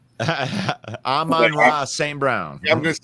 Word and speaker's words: Amon-Ra St. Brown: Rona St. Brown? Amon-Ra St. Brown.